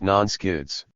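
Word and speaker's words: NSCIDs: Security Council intelligence directives nsci IDs pronounced non skids the nsci IDS are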